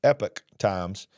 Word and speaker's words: Epoch Times: from the epoch times which I was told that is pronounced Epic Times uh and I'm sorry that I mispronounced that in recent years the